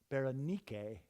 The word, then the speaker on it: Berenice: eventually healed little girl Berenice Berenice is a Greek name and the Greeks pronounce it berenike and just like with